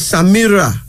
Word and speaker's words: Samira: Then there's Samira.